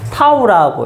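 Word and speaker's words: tau: 요건데, 요거 그리스 문자에 타우라고 읽는 거야. 타우. 알겠죠? 타우라고 읽는 건데, 요걸 이제 여기에서는 토크의 기호로 쓰는 겁니다.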